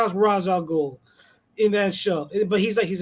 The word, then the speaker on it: Ra's al Ghul: when it comes to Ra's al Ghul. My goodness. Well, I think they did that because Ra's is like it's what is it, Arabic, right? It's an Arabic name.